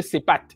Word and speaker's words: Sépat: Les égyptologues appellent, enfin, lisent Sépat. Ils disent que cette graphie se lit Sépat. Bon, déjà, on comprend que le T, c'est une désinence pour le féminin. Donc, ça ne se prononce déjà pas.